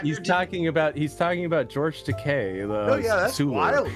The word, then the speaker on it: Takei: Takei rhymes with gay.